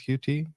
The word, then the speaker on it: Qt: Maybe starting with Qt or Qt. Sorry, I I grew up using Qt without knowing how to pronounce it. People do pronounce it cute, but yeah.